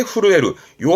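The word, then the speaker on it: 震える: 뭐 두려움 그런 추위 긴장 요런 거에 떨리는게 후루에루요 한자는요 단어는 꼭 사전을 통해서 예문을 받을 필요가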